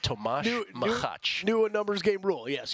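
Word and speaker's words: Tomáš Macháč: Tomas Machach. Tomas Machach, which in our phonetic pronunciation would be Thomas Machak. But it's pronounced Tomas Machach.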